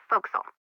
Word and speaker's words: forecastle: ship but it's pronounced fo'c'sle why is that try pronouncing it like an English sailor with no formal education Oh Castle fo'c'sle over